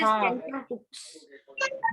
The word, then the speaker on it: tenterhooks: We don't pronounce. It is tender hooks.